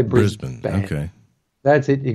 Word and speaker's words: Brisbane: were actually having experiences yeah did I say Brisbane wrong I've got an Australian in the chatroom